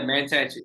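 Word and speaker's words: Mantachie: I think I pronounced it right. Is it Mantachi? Is that correct? Yeah, Mantachi.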